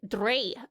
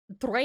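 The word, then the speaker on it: drei: Dre is German for 3. It is pronounced like dry.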